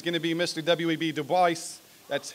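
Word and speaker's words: Du Bois: wav device that's how he pronounces it he is the co-founder of the n-double a-c-p please welcome to the inductee Hall of Fame wav toh voice next year you'll see his poster hanging up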